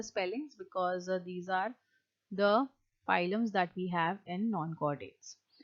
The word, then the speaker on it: phylum: नहीं, but P is silent and you always pronounce that word as phylum.